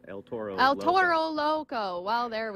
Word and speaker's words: El Toro Loco: So now we're talking with Chuck Wagner with El Loro Toro. I want to say it right because we don't want to confuse those names. You still said it wrong. El Toro Loco.